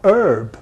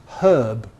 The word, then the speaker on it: herb: Not herb, because that's American. It's herb, but Americans say herb.